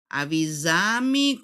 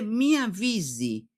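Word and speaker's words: me avise: Cuando uno tiende a traducir, ¿qué va a decir después en portugués? Avisami. Cuando o lo que sea, no avisami. No, no se dice así. Se dice mi avvisi lo que sea o mi avvisa, mi avvisi.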